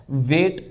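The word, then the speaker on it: weight: vowel आ रहा है वेट में हमने जीएच को नहीं पढ़ा क्योंकि पहले वाउल आ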